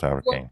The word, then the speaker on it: Hourican: I ever heard hurricane thank it's and it's a real it's a real ass name it's not really spelled like hurricane but it's pronounced hurricane yeah it's Irish so